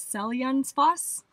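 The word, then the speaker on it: Seljalandsfoss: waterfall of the day which google told us is pronounced as cell young's boss i hope that's somewhere close to right we definitely have already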